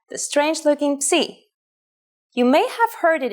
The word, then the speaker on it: psi: If you ever forget how to pronounce this letter, just remember, psi is for Poseidon and his trident.